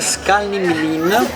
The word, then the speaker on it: Skalní mlýn: Dicevamo ristorante dell'hotel Skalning-Lin, ce l'hanno detto, quindi la pronuncia dovrebbe essere 99% corretta.